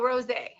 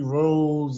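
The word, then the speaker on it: Rosé: at least you rosay at least you say my name right a lot of people call me rose and come on man what's up it's it's like the champagne bottle y'all never i was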